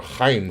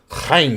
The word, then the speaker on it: Haim: Haim Saban, or Chaim Saban is how you say his name. Chaim Saban, Chaim?